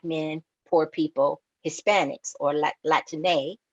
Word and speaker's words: Latine: It Latine is if you want to be consistent with how the language is spoken, it would be Latine, not spelled with an X, but spelled with an E accent because of the female masculine right. terms in Spanish.